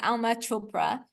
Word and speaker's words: Alma Chopra: And I'm also on YouTube, Facebook, Instagram, and LinkedIn under my name, which is Alma Chopra. It's spelled exactly how it sounds, but yes, my purpose